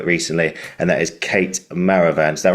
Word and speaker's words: Maravan: new actor center recently and that is Kate Maravan. Is that right? Maravan.